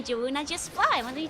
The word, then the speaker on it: Jorunna: Flip the R and Jorunna.